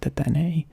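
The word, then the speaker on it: Dedenne: Deten? I'm going to say Deten. Maybe I should look it up. Alright, the internet has led me to believe that this thing's name is pronounced Detene.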